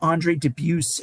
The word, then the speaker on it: Andre Dubus: based on this incredible Andre Dubus, and I know that sounds strange to pronounce it that way, but I believe that's how he pronounces it.